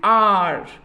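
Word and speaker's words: hour: लेकिन एक एग्जम्पशंस भी हैं कि जैसे साइलेंट एच जहाँ पे होता है वो वर्ड के आगे भी हम एन लगाते हैं, जैसे एन आर। अब आर में किसका साउंड आ रहा है? एच का तो साउंड आ नहीं रहा है।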